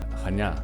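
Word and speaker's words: Chania: So if you're a tourist and in Hanya, Crete, it's many called Tsania because the way it's spelled Tsania. It's not Tsania, it's Hanya.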